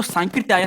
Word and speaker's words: सांकृत्यायन: सुना होगा ना आप ऐसा नहीं बोलोगे कि राहुल सांकृत आयन नहीं राहुल सांकृत आयन तो ये शुद्ध होता है सांस की जो आधा सा दिखाई दे रही है गलत होता है अक्सर हम उच्चारण ही गलत करते हैं तो सांकृत्यायन हमें बोलना है राहुल बोलते हैं